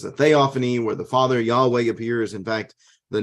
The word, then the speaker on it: Yahweh: The tetragrammaton, the YHWH, and again, it is consonants, so we don't exactly know for certain how it is to be pronounced, though most people have adopted the way of saying it, Yahweh, and inserting a Y-A-W,